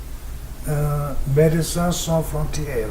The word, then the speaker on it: Médecins Sans Frontières: Well, I may sound not very professional if I do that, but in France they have got Médecins Sans Frontières, right? Am I pronouncing correctly? Parfait.